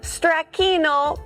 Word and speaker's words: stracchino: Okay, so talk to me about this sausage and stracchino crostoni.